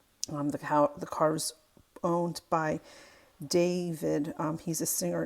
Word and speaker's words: D4vd: The car was owned by David. He's a singer. It's spelled D4VD.